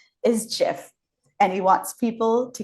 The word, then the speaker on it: GIF: year, and on his deathbed said the correct pronunciation is GIF, and he wants people to keep saying it that way.